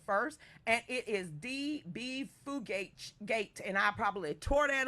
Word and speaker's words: Fugate: It's Fugate, like F-E-W. Fugate.